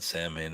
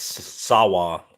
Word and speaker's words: Samhain: It's not Samhain. It's Sawa, isn't it? Sawa? This is Sawa. I don't know how to say it. I know it's not Samhain, though.